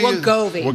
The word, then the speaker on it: Wegovy: So I can't pronounce the other one. Wegovy? Wegovy.